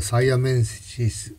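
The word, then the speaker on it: siamensis: 英語的な発音ですとサイアメンシス、サイアメンシスになるんだそうですね。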